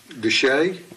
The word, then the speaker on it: Desha: uh uh 910 Heber Springs Road at Deshay Deshay yes sir what about Batesville that's baseball to say it's spelled a show d-e-s-h-a all right because that